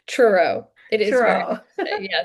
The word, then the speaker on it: Truro: Is it pronounced true? It's hard to say. Truro.